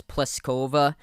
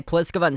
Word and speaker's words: Pliskova: but it's not like if i was looking at a piece of paper before going to like a pronunciation guide i would have thought the last name was pliskova and then saqqari but it's pliskova and zachary so zachary up 2-1